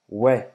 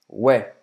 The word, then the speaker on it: ouais: Mas o que você vai ouvir na França é ouais, ouais, Ué, ouais. ué. C'est prononcé assim, né?